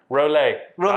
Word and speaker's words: Rolet: Rolet. That's right. Rolet. That's right. I can pronounce that.